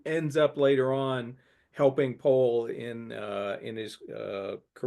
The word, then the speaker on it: Powell: pole it is pronounced pole yeah yeah uh yeah Americans would say Powell but um yeah it's it's poll uh I just want